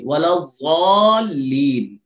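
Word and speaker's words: ولا الضالين: تب بھی درست ہے، لیکن بہتر یہی ہے کہ زبان کی یہ نوک اوپر کے دانتوں کی جڑ میں نہیں لگنا چاہیے، یعنی دال کا تلفظ نہیں آنا چاہیے، ولا الضالین، آمین۔ اس سورت کے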